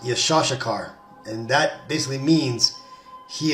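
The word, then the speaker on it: יששכר: the tribe of issachar the name isachar is in Hebrew pronounced yashar and that basically means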